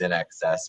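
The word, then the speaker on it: INXS: was I mean I've learned over time that's in excess but you know nobody knew how to pronounce it unless you learned so they were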